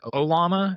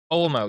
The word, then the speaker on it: OLMo: full on open source, like Olama, is that how you pronounce it? Olma? I was talking about Olmo. Olmo, yes, those models, and also